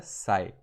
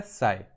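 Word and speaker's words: psi: सा सिंबल बना है इसका नाम होता है साईं ठीक है पी साइलेंट होता है साईं ठीक और इसको जो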